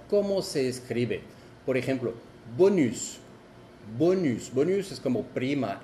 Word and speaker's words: bonus: Por ejemplo, bonus. Bonus. Bonus es como prima, extra. Bonus. Y ves, ya no es el sonido on porque sigue una vocal.